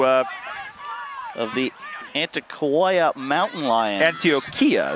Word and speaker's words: Antioquia: Antioquia is how they say it.